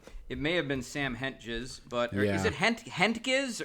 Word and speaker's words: Hentges: It's Hentges like henchman.